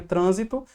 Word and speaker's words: trânsito: a gente tem aqui a palavrinha trânsito e a banca pede para a gente dizer quantas sílabas tem. Então foi uma questãozinha bacana a gente tem aqui 3 sílabas, não são 2 sílabas, e a gente tem a penúltima sílaba como a sílaba mais forte.